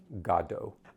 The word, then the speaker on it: Godot: Shame on me for having seen a good production of waiting waiting for Godo. Um, which is how Ian Mckllen pronounced it as well.